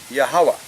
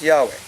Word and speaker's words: Yahweh: word y he V should be yahwah not Yahweh that's the fourth that's